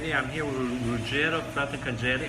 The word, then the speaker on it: Fratarcangeli: I'm here with Ruggero Fratarcangeli. Hope I pronounced it correctly. Fratarcangeli, that's correct.